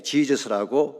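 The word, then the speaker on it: Jesus: 이 예수와 혹은 예수스라는 것이 헬라말로 예수님인데요, 영어식으로 표기했기 때문에 지저스라고 발음하는 것입니다.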